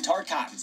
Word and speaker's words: Tarkatan: Joining her in side-swapping this creepy dead guy's air mech, leaving Melina with only Tarkatans on her side. And yes, it's pronounced Tarkatan. I got it wrong in the last video.